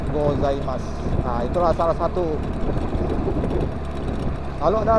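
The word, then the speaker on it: ございます: pagi itu tulisannya ohayo punya itu di akhir kalimat tidak dilafalkan jadi gozaimasu dibaca gozaimasu Itulah salah satu kalau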